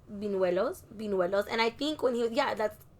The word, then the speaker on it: buñuelos: because I've got them buñuelos my whole life, and I know I'm not saying them right, and I heard Leti say it right now, buñuelos. It's with the ñ.